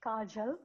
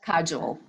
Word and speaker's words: Kajal: It's Kajal, but Kajal. Yeah.